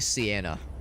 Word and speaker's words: Sienna: Hers is probably Sienna. That's how you pronounce it.